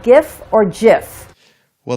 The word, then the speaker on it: GIF: or not it's pronounced gif or Jif well the creator said it was jiff like giraffe so it's pretty much